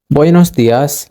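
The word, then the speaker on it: buenos días: it comes to theas you got to put a little bit of a stress on that IAS okay now practice it one more time with me buos buos Dias literal meaning is good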